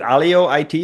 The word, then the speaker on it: Alio IT: So, um, well, let's talk about uh, is it Alio it?